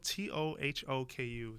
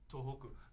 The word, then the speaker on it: Tohoku: that day iada was headed to uh so it's spelled t o h o kuu toou toku tohoku tohoku University in suai to meet with Professor